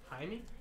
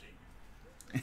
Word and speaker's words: Jaime: Was thinking it was Jaime, but it was Jamie. What's that Jamie Kennedy movie? It's like, thanks, Jaime. Jamie. Oh, it's Jaime. Oh, it is Jaime?